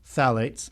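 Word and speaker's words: phthalates: One of the common ones out there are called phalates, spelled with a ph and then th. So, it's phalates, but it's actually pronounced phalates.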